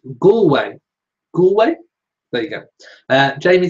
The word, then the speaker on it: Galway: Jamie says it's pronounced Galway.